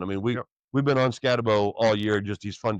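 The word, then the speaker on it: Skattebo: People say Scataboo. That's not how it's spelled. Bo. It's Scatabo.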